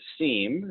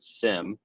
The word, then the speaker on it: SIEM: We have folks who pronounce it as SIEM and some who pronounce it as SIM.